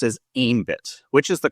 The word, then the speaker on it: Aembit: I've also heard it pronounced as ambit which is the correct way.